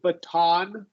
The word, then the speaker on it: baton: syllable is not stressed like the word baton the syllable is stressed so we do say true t b a t o n right okay yeah yeah